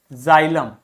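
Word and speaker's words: xylem: आ गई इसी प्रकार एक्स को आप जड की तरह से प्रोनाउंस करोगे यदि व एक्स किसी भी शब्द के बिगिनिंग में आता है जैसे जाइलम जाइलोफोन जेनोफोबिया जेनोफोबिया मतलब ऐसे लोगों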